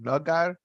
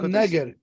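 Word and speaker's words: נגר: I don't have the nekudes, but nagar. No, neger. Neger.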